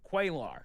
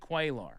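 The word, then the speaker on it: Cuellar: The one Democrat voting with Republicans was Representative Henry uh how do you pronounce his last name? Quaar. Henry Quaar.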